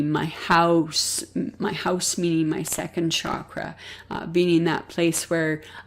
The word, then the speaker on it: chakra: And I also recognize that the true pronunciation of chakras is chakra.